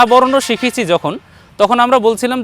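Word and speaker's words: زا: দ্বিতীয় বর্ণ পেলাম যা বর্ণকে আমরা উচ্চারণ করব জিহ্বার আগে এবং নিচের দাঁতের সামনের দুই দাঁতের পেটের সঙ্গে লাগিয়ে বলবো যা একটু আওয়াজ হবে চেপে আওয়াজ হবে যেমন আমরা ঝ বর্ণ উচ্চারণ করি ঝামেলা বলি ঝামেলা যেমন বলি ঝ এর মতোই ঝা বাংলা বর্ণের এর মতো পুরোপুরি কাছাকাছি হবে না এটি একটু পৃথক হবে চিকন হবে যা হবে এর উচ্চারণ যা প্রিয় দর্শক দেখুন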